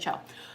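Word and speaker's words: choux: it yeah they're seed c-h-o-u-x that's what it is a show um I'm probably pronouncing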